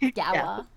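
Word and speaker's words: Ghaelya: Uh, it's spelled like Galilee, but it's pronounced Gava.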